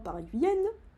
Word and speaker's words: paraguayen: H donc paraguyanten paraguillenne euh se dit guille.